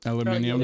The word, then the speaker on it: aluminium: of me yeah um in the UK they pronounce aluminum aluminium aluminium yeah there is no second eye no